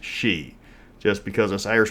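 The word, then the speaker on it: sidhe: word is s-i-d-h-e it's spelled sid he but pronounced she just because this irish like to jack with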